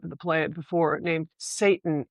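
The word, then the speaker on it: Seyton: the play before named Satan, S E Y T O N, but it's pronounced Satan as in the devil, is the only person that is left with him.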